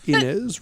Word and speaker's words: Inez: Inez, rhymes with Guinness.